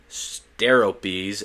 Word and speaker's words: Steropes: Their names were Brontes, Steropes, and Argos, literally translated to thunder, lightning, and brightness.